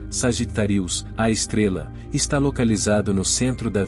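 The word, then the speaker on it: Sagittarius A*: grande escala do universo sagitarius asterisco ou em uma pronúncia correta sagittarius a estrela está localizado no centro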